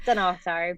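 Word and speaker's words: Dunnottar: Yeah, I Yes, was about I to say can't pronounce it Duntofte. That's a correctly. different one. That's Dunatar.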